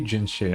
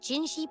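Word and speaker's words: Jinhsi: The she sound is just makes more sense if you spell it with S-H. But it's the opposite.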